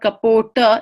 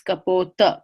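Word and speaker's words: कपोत: Kali Caputo niya this T shouldn't have a dark under it because it's not retroflex cup it's not Caputo its Kubota Capote means pigeon for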